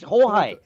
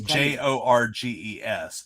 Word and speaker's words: Jorge: Jorge Lorenzo is George's. Jorge is George's, I guess. That might It's be Jorges. Yeah. But the G can also be H or it can be a hard G.